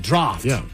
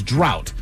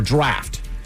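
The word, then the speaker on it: draught: An unusual spelling that doesn't reflect its pronunciation, particularly with the silent gh. A common misprononunciation that you might hear is drought or draft.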